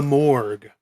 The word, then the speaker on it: mohrg: It's called the Morgue. The Morgue. Now, it's not morgue as in where you go to find a dead body. It's spelled a bit differently, MOHRG, if you want to look it up.